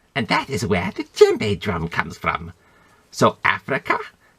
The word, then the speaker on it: djembe: So you gotta get a little bit of the D in there if you really want to pronounce it right.